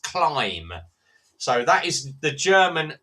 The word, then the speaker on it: Klim: Now, it's everyone says, is it a Klim? No, it's pronounced Climb.